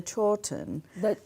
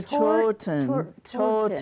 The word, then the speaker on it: Chawton: And she was an extraordinary quilter, and she had made this coverlet quilt that resides in this is how you pronounce it, the Chawton. The Chawton.